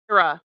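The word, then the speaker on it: Aire: I didn't hear the I. A I like just put the air.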